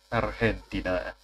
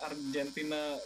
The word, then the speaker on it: Argentina: Argentina. Ya, G-nya bukan G ya, tapi kayak. Yo, I learned so much Spanish that I pronounce Argentina selama ini wrong and just fucking hell. Yeah. Argentina.